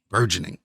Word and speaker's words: burgeoning: burgeoning genre of music um burgeoning three syllables um another new album